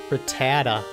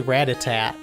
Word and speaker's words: Rattata: the capture Pokemon tutorial Rattata I used to always say Ratatat for some reason I always used to